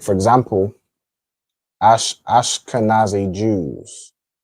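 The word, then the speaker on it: Ashkenaz: You pronounce that as pretty much as how it's pronounced, right? Ashkanaz. All right. Ashkanaz. Okay. So, it's pronounced the same.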